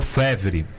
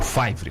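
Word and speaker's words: Faivre: ao cruzamento com a Dr. Fevre, ou Dr. Favre, como o aportuguesado esse nome costuma ser falado por aqui. Mas é o Dr. Fevre, que é o correto de ser pronunciado, ali quase no alto da 15.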